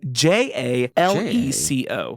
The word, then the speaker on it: Jaleco: So Jaleco, is this spelled Gelaco? It is Jaleco.